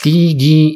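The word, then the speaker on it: تيجي: Nah, di Mesir, ini apa khususnya di Kairo, kata huruf jim ini diubah menjadi huruf G dalam bahasa Indonesia ya, huruf G. Dan cara pengucapannya kalau di Kairo ini biasa diucapkan dengan kata tigi imta. Jadi bukan lagi menggunakan kata huruf jim ya, menggunakan huruf G. Jimnya diganti G. Jadi tigi imta.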